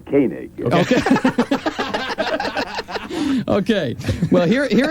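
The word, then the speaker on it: Koenig: right okay and here's here he pronounces his name kig okay okay well here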